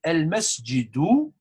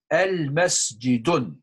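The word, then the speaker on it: المسجد: Do not, never ever say al masjidun. Lot of these new students, they do these mistakes, but I will focus on this. I will point in that one. Be careful here. Al masjidun. No, that's nakira and ma'rifa all together, definite and definite in one word.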